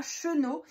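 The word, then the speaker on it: Schoenau: dans le 67, donc c'est à Chenaux, ça s'écrit S-C-H-O-E-N-A-U.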